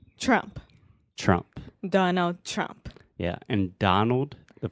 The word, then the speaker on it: Donald: people want to say, most of my students want to say Donald, but it's da, just like prato chato. Donald Trump.